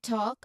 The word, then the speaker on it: talk: So there's a silent L in talk as well as in walk.